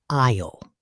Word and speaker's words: aisle: The first word is aisle. A-I-S-L-E. Aisle. An aisle is the long walking space between the shelves of food in a supermarket. Remember, the S is completely silent.